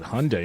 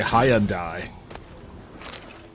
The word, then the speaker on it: Hyundai: nerd cast said hyund it said Hyundai it didn't say hi andai Street Corner Becky said